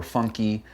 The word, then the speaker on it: Funke: It is a German last name. The German word being Funke. My family has pronounced it funky all these years.